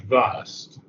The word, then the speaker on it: vast: And here, I think maybe it would be good if you use the British pronunciation vast, not Okay. vast, but vast.